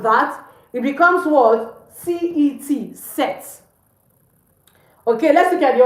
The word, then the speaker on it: cet: Instead, I will use CET, set.